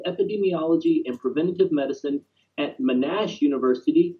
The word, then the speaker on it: Monash: and Preventative Medicine at Monash University. Did I say that right, Rosalind? I say it Monash here. Monash.